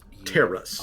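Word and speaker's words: Terus: His his name is spelled T E R U S. Terrace.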